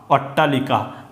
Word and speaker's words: অট্টালিকা: পড়ে থাকবে ট আকারটা অটটা লস লি ক আকার কা অট্টালিকা মানে এটা হচ্ছে ট